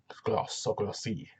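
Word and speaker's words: Grosse: is called this Demetrius Gross, yeah, that's his Grossi, how you pronounce it.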